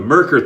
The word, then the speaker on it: Merkur: to shave some more with the myrrh 34c oh sorry that was the that was the Gillette heritage the Merkur 34c that's what I should have been saying I said it wrong